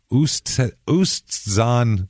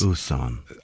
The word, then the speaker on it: Oostzaan: Oostzaan, Netherlands. Oostzaan. OOS. Mm-hmm. Very few words start with double O, first of all. OOSTZAAN.